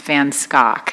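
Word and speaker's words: Van Schaack: really good business and it is pronounced van scock and how the mighty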